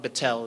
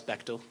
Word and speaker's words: Bechtel: After that, we will have our valedictorian address us, Damon Bechtel. It's spelt wrong in your bulletins. It's not Bechtel, it's Bechtel.